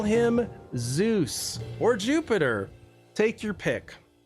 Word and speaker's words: Zeus: And and and Zeus, they would have said it more like juice. Like juice.